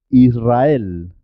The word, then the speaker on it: Israel: Israel, Israel. En el resto de los casos se escribe simple y suena simple.